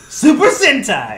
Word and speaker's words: Super Sentai: Super Sentai. Rhymes with hentai.